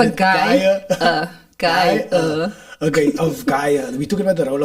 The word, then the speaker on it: Gaia: So we're talking about the role of Gabby in Gia. I can't pronounce it. Gaia. I want to say Gia all the time. Nah, it's Gaia. It's Gaia. with an A. Yeah, Gaia.